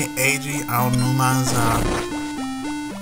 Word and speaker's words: Eiji Aonuma: It's apparently Eiji Aonuma's that's how you pronounce his name.